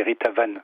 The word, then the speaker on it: Ritavan: Alors là, on parle du coffret Le Voyage de Ritavan et de ses 12 chats. En fait, comme c'est un nom, excusez-moi, comme c'est un nom hindou, on dit Ritavan.